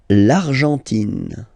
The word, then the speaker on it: Argentine: L'Argentine. Okay, so you've got this nasal here. En, l'argent, and then tin. Don't pronounce the final it just gives you the pronunciation of the N. In. L'Argentine. L'Argentine.